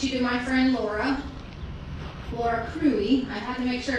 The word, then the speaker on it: Cruey: I want to introduce you to my friend Laura Cruey. I had to make sure to how to say her last name, but it's Cruey.